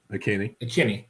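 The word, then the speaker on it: Ikhine: Now, your other two wide receivers, Burks and Westbrook, Akine, is that how you say it? Akini.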